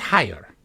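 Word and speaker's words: Haigha: His name is Hire. He pronounced it so as to rhyme with mayor.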